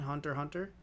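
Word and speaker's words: Hunter × Hunter: uh have you seen hunter hunter which i just recently learned that you don't pronounce the x yeah um i haven't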